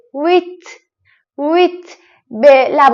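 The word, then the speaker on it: huit: تلفظ تلفظ تلفظ نمیشه عدد ویت ویت اینجا اش و او صدای و میده این دو تا حرف کنار هم صدای و ویت ویت به لب و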